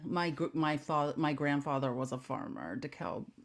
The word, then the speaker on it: DeKalb: Someone CEO of DeKalb County, Georgia, from 2004. What? How do you say what county? DeKalb, DEKLB. DeKalb. It's not DeKalb. DKALB.